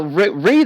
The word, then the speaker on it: read: Now, read is special because, like, the last two are going to be pronounced differently. Read, red, red. Like the color red.